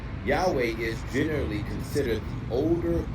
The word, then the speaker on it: Yahweh: Yudhe wave or YHW wh compared to Yahwha which is a modern variation while it attempts to vocalize the four Hebrew letters it does it cannot because it's a variant it's a misprononunciation it's a misspelled form of the name Yahweh which is supported by historical linguistics as well as manus manuscript evidence.